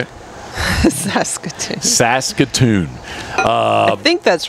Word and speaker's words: Saskatoon: there you go s say it again Saskatoon Saskatoon Saskatoon I've never been to Saskatoon I've been to Prince Albert okay but I've never been to how you say it Saskatoon Saskatoon uh I think that's right I think